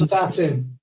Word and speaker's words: Prestatyn: many books too on the White Lady of Prestatyn, if that is the correct way of how I pronounce that. And there's comments. Prestatyn.